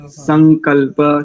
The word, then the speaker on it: संकल्प: शिव संग, शिव संग, दंत्य सकार है यहाँ पर। शिव में तालव्य और संग में दंत्य। संकल्प, शिव संकल्प।